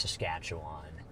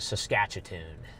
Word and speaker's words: Saskatchewan: Yeah, it is pronounced Saskatchewan. Garrett likes to call it Saskatcheon.